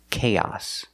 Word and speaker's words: chaos: word is pronounced chaos the first sound is the hard ck sound like cake and cookies K the first vowel is a long a k like say and pay k chaos chaos the second vowel is the short a sound like hot and stop it's the short o it's open it